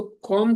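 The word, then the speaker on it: comb: कॉम, इसको कॉम का pronunciation ऐसे ही होता है, कॉम। कॉम नहीं पढ़ते हैं, कॉम पढ़ते हैं, बट ठीक है, इतना इंग्लिश नहीं चाहिए हमको।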